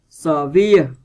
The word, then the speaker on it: severe: Severe, vần 2.